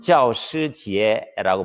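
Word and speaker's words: 教师节: 우리 발음으로는 교사절이라고 해요. 중국어 발음으로는 지아오시지에라고 부르는데 9월 10일 이날 중국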